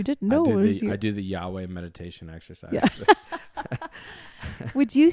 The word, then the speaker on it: Yahweh: say when you breathe it's yah way like you're saying Yahweh no it's like like that's actually the uh what's the term the inflection of the inflection or I don't know if it's the syllables but people say as you breathe the ACT it's actually